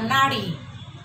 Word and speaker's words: नाड़ी: फिर हमारे पास है नारी और नाड़ी। नारी और नाड़ी, बहुत सारे लोगों की आदत होती है कीड़ा को भी वो र उच्चारण कर देते हैं, लेकिन यहाँ पर लिखने समय हमें शुद्धता का ध्यान रखना है।